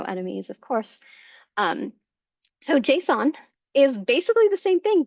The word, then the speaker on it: JSON: up um some people say it's it's it's pronounced Jason I have never heard it pronounced Jason I've always heard it pronounced Json um which stands for JavaScript object notation so